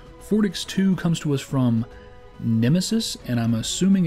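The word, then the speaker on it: Nemesys: i'm assuming it's spelled it's a pronounced nemesis because it's spelled n-e-m-e-s-y-s using the uh always cool convention of replacing an i with a y so i'm going to assume it is in fact pronounced nemesis these guys are from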